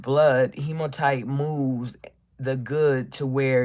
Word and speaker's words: hematite: Hemonite. Hematite. Hematite. Can you see it? Hematite. That's how you spell it.